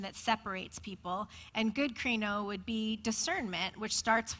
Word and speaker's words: krino: it's kind of funny so the word krino is spelled k-r-i-n-o it's the greek word for judgment and it means to